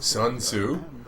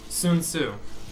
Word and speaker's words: Sun Tzu: Sun Tzu.